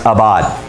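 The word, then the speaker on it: עָבַד: used for worship is this hebrew word that's pronounced abad and the hebrew word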